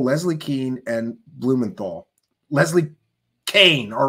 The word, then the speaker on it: Kean: Keane and Blumenthal Leslie Kane all right I'll say it right the lady spells her name k a an that's Keen to me but no she wants people to say Kan because she wants to